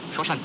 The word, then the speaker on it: শ্মশান: বর্ণের সাধারণ উচ্চারণ ম শব্দের প্রথম বর্ণে ম ফলা থাকলে সেই বর্ণ উচ্চারণের সময় ম এর উচ্চারণ ম এর মত হয় যেমন শ্মশান শ্মশান স্মরণ স্মরণ শব্দের মধ্যে ম ফলা থাকলে